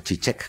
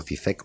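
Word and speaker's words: Žižek: Yo creo en algo que dice Zizek, el filósofo, o Zizek, como le dicen algunos, yo le digo Zizek porque lo pronuncio como se escribe.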